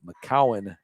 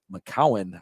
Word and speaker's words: McGowan: And I think that McGowan, I think people just don't realize there's a C instead of a G, and they mispronounce it.